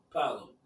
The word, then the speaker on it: Paolo: Is it Pablo? Is that how you pronounce it? I think it's I think it's pronounced different. Paolo. Yeah. Paolo.